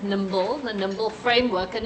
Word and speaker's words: NIMBLE: It's spelled N-I-M-B, but we call you pronounce it NIMBLE, the NIMBLE framework, and it's just a framework that my colleague, I don't know if you know Prof.